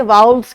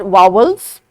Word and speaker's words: vowels: सो अभी हम देखते हैं कि वाउल्स क्या हैं। Teachers, this word is नॉट वावल्स, लोग इसको जनरली गलत प्रोनाउंस करते हैं। These are वाउल्स.